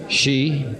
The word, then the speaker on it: ski: She? That's the right way to pronounce S-K-I, George.